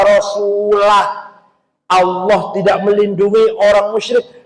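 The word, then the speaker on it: رَسُولُهُ: Ada lagi orang baca Quran salah. Innallaha bari'um minal musyrikin wa rasulih. Allah tidak melindungi orang musyrik dan tidak melindungi Rasulullah. Salah. Yang benar bacanya innallaha bari'um minal musyrikin wa rasulah.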